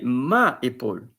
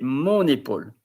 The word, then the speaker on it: mon épaule: But here you don't say ma épaule, you say mon épaule.